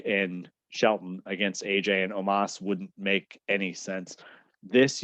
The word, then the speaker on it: Omos: You got AJ Styles, not in his very first match, teaming up with Omos, or Omos, I believe is the proper pronunciation.